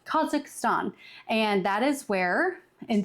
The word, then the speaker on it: Kazakhstan: that is in a country that I'm always mispronouncing and it's um Kazakhstan. Kazakhstan and that is where in that that is